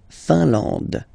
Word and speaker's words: Finlande: IN here, nasal, un. AN, nasal, en. And then D, final E, not pronounced. La Finlande.